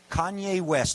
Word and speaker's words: Kanye West: Kanye West.